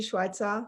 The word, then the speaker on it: Schweitzer: herself, because I'm not 100% sure how to pronounce her last name. So, Schweitzer. Rosie, welcome in. Hi, my name is Rosie Schweitzer.